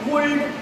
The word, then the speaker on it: would: वुल्ड, cooled, nobody will speak these words like would, could. This is L is silent, here also L is silent.